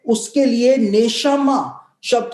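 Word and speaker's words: נשמה: क्योंकि हिब्रू भाषा के अंदर जो प्राण शब्द है उसके लिए नेशमा शब्द का इस्तेमाल हुआ है। नेशमा मतलब उसकी स्पेलिंग होती है NESHAMAH, नेशमा।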